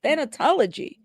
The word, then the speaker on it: thanatology: do you say that thanatology o it sounds like genealogy but thanatology thanatology all right my smart